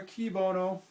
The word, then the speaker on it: cui bono: It's spelled C-U-I-B-O-N-O. Cui bono or qui bono.